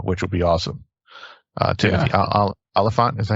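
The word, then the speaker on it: Olyphant: Timothy Oliphant, is that how you say his name?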